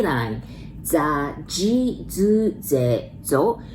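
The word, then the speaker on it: じ: Za, ji, zu, ze, zo. But the second one, that's Z, I, but we really pronounce J, I, right? Ji.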